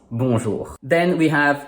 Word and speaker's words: Bonjour: Bonjour is spelled with 7 letters but has only 5 sounds: 3 consonants and two vowels.